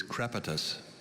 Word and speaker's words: crepitus: thank you hi nathaniel hello your word is crepitus you may have all the information please crepitus